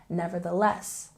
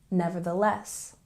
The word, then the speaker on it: nevertheless: let's look at pronunciation nevertheless again has the th sound so make sure your tongue's going between your teeth and we have uh secondary stress on the first syllable and a primary stress on the last syllable nevertheless nevertheless and here